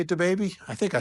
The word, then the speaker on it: DaBaby: Is that how you say it, DaBaby? I think I said it right. DaBaby, yeah. All right, good. DaBaby, D-Baby.